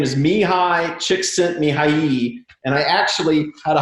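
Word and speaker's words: Csikszentmihalyi: the optimal experience and his name is mihai chick sent me high and i actually had a hungarian person write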